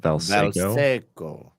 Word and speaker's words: Valseco: Do you hear how I pronounce that? Valseco. Valseco, like Jose Canseco.